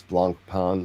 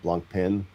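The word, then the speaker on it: Blancpain: Yeah, we have we have a sub we have a sub debate going on in the comments about how to pronounce blanc pan, not blanc pin.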